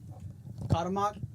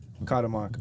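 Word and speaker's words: Cuauhtémoc: Kadammok. Kadamok.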